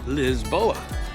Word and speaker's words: Lisboa: Hey everybody and welcome to Lisbon or as the locals say, Lisboa.